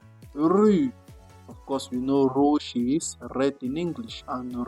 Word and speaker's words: rouge: Rouge. Rouge. Please, you push it from your throat. Rouge. The R comes right from your throat.